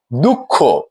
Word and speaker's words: দুঃখ: গেছে বিবাহ প্রিয় শিক্ষার্থীরা আমরা পরের উদাহরণটিতে দেখছি দুঃখ যদি শব্দের শেষের ধ্বনিতে অকার থাকে এবং তার পূর্বে বিসর্গ বা অনুস্বর থাকে তাহলে সেই শেষের অকারটি ও রূপে উচ্চারণ হয়।